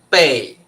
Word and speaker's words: 背: 老师刚刚都告诉你们了，这个要念什么？4 声。这个是背，这个也是背。